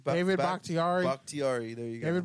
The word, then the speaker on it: Bakhtiari: David Bakhtiari. Bakhtiari. There you go. David Bakhtiari. Not like Bok Choi, but Bakhtiari.